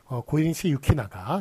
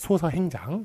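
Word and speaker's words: 고니시 유키나가: 그다음에 뭐 고인시 유키나가 이렇게 써야지. 뭐 저 덕 그 뭐죠? 그 저 소서 행장 뭐 이런 식으로 쓰면 안 되겠습니다.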